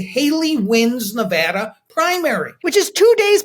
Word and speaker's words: Nevada: are taking you to Nevada did I say it right you did I'm impressed Nevada okay and look I